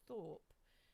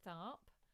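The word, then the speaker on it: Tharpe: by sister rosetta peters i had got her name wrong last week i said it was sister rosetta thorpe and it is tharp um an amazing character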